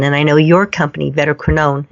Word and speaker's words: Vetoquinol: And I know your company, Vetoquinol, am I pronouncing it correctly? Yeah, Vetoquinol, yep.